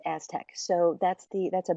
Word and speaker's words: ASTC: science hyphen Technology Centers the acronym is astc it's pronounced Aztec so that's the that's